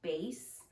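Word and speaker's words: Béis: I saw the ad for this on Facebook, and the brand, I believe it's pronounced Base. It's B-E-I-S, and this is the Weekender bag.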